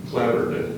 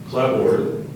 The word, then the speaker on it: clapboard: weather boarding outside walls clabber are there any alternate pronunciations clabo and clapboard may I please have